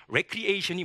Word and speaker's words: recreation: 그러면 recreation이 뭐냐? 보통 우리가 recreation 하는데 사실 recreation입니다. 발음 주의해 주시고요.